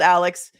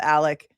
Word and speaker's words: Alex: Alec. Well, it's spelled Alex. He calls himself Alec.